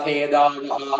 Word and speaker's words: ഖേദാവഹ: ബഹുതര ഭവ ഖേദാവഹ. അവിടെ ബഹുതര ഭവ ഭ എന്നുള്ളത് ഘോഷാക്ഷരാണ്. ഭവ ഖേ എന്നുള്ളത് അധികരമായിട്ടുള്ള അക്ഷരമാണ്. ഖേദാവഹ അതിൽ ഖേ കഴിഞ്ഞിട്ട് ദാ വരുന്നത് മൃദുവായിട്ടുള്ള അക്ഷരമാണ്. ബഹുതര ഭവ ഖേദാവഹ. ആ ഓരോന്നിന്റെ ഉച്ചാരണം ശ്രദ്ധിക്കണം. ബഹുതര ഭവ ഖേദാവഹ.